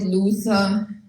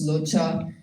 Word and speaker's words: Luther: know we call it Luther it's not it's lutter the H is not pronounced it's a sharp T Luther Martin Luther even